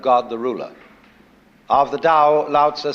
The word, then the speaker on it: dao: That's pronounced dao. If it had an apostrophe after it, it would be pronounced tao.